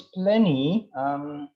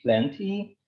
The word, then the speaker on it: plenty: But I think I prefer to say plenty instead of plenty, because when Western people pronounce the T in between, in the middle of the word, they usually reduce.